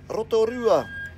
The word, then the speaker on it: Rotorua: by the way I'm a trick again is Rotorua I'm gonna try and say all of those well-known places that everyone always seems to get wrong so Rotorua is our place name for today okay it's